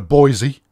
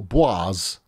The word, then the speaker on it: Boise: We've got a Boise. Yes, or Boise, as it should be pronounced.